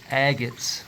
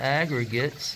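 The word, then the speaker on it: agates: that the other day I'm saying agre there's no R and that's my fault I did not know that I've always been pronouncing it Aggregates and it's actually agot so an agot these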